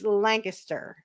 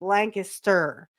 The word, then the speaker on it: Lancaster: No, if you want to say it here, it's Lancaster. So if you want to say it like the natives, it's Lancaster.